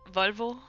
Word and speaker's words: Volvo: I'm just so used to hearing it in Danish, I think, is all. How do you say it now? Now you can't just say that and not. It's going to be a completely different word. It's going to. Yep. No. It's Volvo.